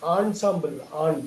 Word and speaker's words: ensemble: என்னன்னு படிக்க கூடாது. ஆன்சாம்பிள்.